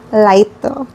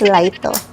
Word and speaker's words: Lito: Lito hindi daw lito. It's lighto.